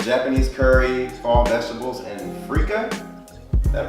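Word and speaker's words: freekeh: And then entrees, you had I had the grilled trumpet mushroom, which is Japanese curry, fall vegetables, and freeka. Did I pronounce that right? It is indeed freeka.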